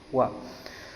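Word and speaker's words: は: Kalau partikel wa itu habis subjek pasti diakhiri dengan partikel wa, yang tulisannya itu h tapi dibacanya wa.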